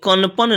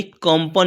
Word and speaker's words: कंपन: कण जोड़ प जोड़ न यानी कनपन नहीं पढ़ाएगा।